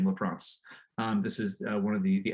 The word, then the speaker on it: LaFrance: I will give you the assessment of I think she pronounced her name LaFrance.